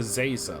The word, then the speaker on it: Zaza: does it on purpose professor zaza like laser with a z how hard is that